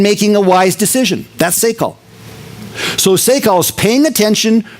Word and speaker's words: sakal: It says David, and the word is, I'm not going to pronounce this Hebrew word right. If you want it right, call Lee. But I'm going to pronounce it Sakal. S-A-K-A-L. I'm going to say Sakal a lot. And this is going to be probably my next Didachi instead of Didache. So Sakal, because I'm going to say Sakal probably 30 times today. Now, if it's pronounced incorrectly, you know what it is. It's S-A-K-A-L.